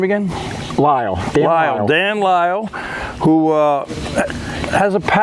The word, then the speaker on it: Lyall: Lyall.